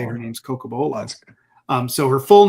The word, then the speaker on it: Cocobolo: So I was curious where the Coco Bolo came from.